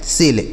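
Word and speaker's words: sale: Spelling ध्यान रखिए। और एस ए एल इ सेल का मतलब बिक्री होता है। क्या होता है? बिक्री होता है। ठीक है? सेल।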